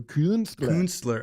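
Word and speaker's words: Künstler: There's an umlaut on it. So Kunstler. Okay, gotcha.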